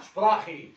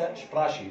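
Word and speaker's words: Sprache: سبب نطقها كده ان السي والها لما بيجي قبلها حرف الآ تتنطق خ فاسمها شبراخي وليس شبراشي شبراخي.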